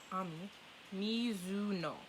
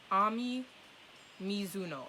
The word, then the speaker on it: Ami Mizuno: her an Ami hold up a second mommy Ami Mizuno Ami Mizuno okay okay I think I got the pronunciation down Ami misino is a quiet and